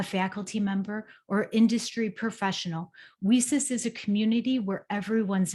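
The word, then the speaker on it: WiCyS: go by our acronym we sis it's w-i-c-y-s and we pronounce it we sis like we sisters because that's exactly what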